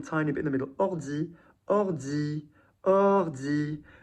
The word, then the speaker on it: ordi: There's not ord, e. So you want to think of the consonants as being on the end of the first syllable and on the beginning of the next one as well. It's not ord, di, ordi, oi. You slide just as much between two syllables, whether there are freaking